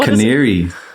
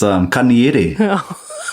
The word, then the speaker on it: Kaniere: Some of these mispronunciations, One of the big ones is Lake Canary. Have you guys heard of that one? No. Carl? Lake Canary. It's Kaniere. Oh my God.